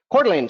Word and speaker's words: Coeur d'Alene: Okay, what about, I'm going to butcher the name. I don't know how to say it. Coeur d'Alene? Coeur d'Alene.